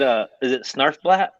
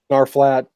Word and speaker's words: Snarfblat: But is it Snarfblatt?